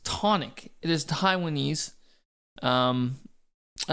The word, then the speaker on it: Chthonic: to uh correct me he said it's not pronounced katonic it's not pronounced cathonic it is pronounced tonic it is Taiwanese um I don't know what